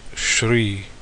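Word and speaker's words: श्री: And this is Sri. In Hindi, it's usually pronounced as Shri.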